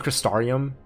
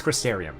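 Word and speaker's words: Crystarium: I've been saying Cristarium myself like for so long that I always say it wrong. I know it's Crysterium, but I always say Cristarium.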